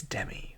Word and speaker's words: Demi: Like I think Demi Moore is that's how you say her name, but then it's Demi Lovato. I'm like, why can't it just be Demi? Because that's how it's spelled.